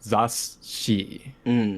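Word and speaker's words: zasshi: Yeah, the way it's usually described is that it's like a double consonant. So if you split up the Romaji spelling of it, like the Z-A-S-S-H-I, it's almost as if you're pronouncing it like zashi. There's like zashi. a double shi in there a little bit.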